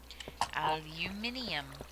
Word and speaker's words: aluminium: language i know right aluminium technically that is one of the acceptable pronunciations except there's no i before the u in aluminum there are actually two spellings for it as well of course there